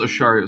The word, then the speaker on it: Acharya: There's the Livingstons, and how do I say your last name? Is Acharya? That is pronounced Acharya, sir. Acharya.